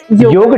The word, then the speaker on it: योग: तो आपको भी कई लोग ऐसा बोलते होंगे योगा टीचर, योग टीचर नहीं बोल रहे, जबकि उसका शुद्ध जो उच्चारण है वो योग शिक्षक के रूप में योग है।